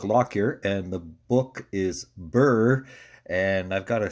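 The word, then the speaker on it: Birr: I grew up um is called Burr um but it's spelled b i r r um and but I in my head I'd always imagined it as Burr like the prickly plant um and so I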